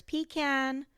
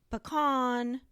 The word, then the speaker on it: pecan: And before I digress, in Texas, people pronounce the word peon several different ways. There's pecan, pecan, and pecan. So, I'm going to say it the way I've always said it.